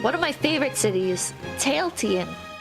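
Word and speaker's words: Tallinn: okay all right one of my favorite cities tailan how do you say that so I would say yeah about tailon oh tailon I run yeah I run the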